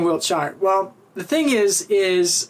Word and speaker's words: Wiltshire: my middle name is Wiltshire or Wiltshire depending if you're from England or not they pronounce it differently but you know whatever